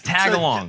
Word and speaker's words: Tagalog: the accent she learned Tagalog or whatever it's called how do you want to up my Tagalog Tagalog it's tag along tag along yes and this is